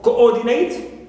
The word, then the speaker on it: coordinate: Coordinate on or, not on co.